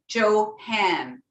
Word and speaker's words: Johan: to hunt beautiful now to correctly pronounce my name if you think I know if you think of Joe and then Han no d Johan Johan correct yeah okay